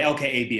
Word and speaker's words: LKAB: uh the accountability of el caobe and uh sorry l-k-a-b i flipped into the swedish pronunciation um it questions uh